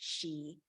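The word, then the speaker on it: sìth: word for Fairy was spelled Sith but pronounced she but then I took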